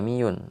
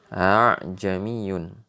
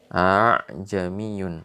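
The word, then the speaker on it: أأعجمي: Ajmi Yun aa jami'un kalau kita mungkin orang biasa kita akan dibaca aja Myun tapi ternyata bacanya bukan begitu bacaannya adalah ah jami'un a jami'un dan lain sebagainya Itu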